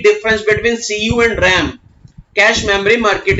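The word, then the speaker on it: cache: याद करो बेटा कैश, बोलते क्या है इसको? कैश, दैट इज प्रोनाउंस करते हैं हम लोग इसको कैश।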